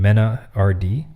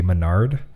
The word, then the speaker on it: MenaRD: I thought it was supposed to be Menard, but they're just screwing it up. Okay, so it's Mena RD.